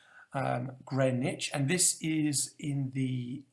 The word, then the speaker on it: Greenwich: is in the uh even though it looks like it should be pronounced green witch it is pronounced greenwich um grey niche and this is in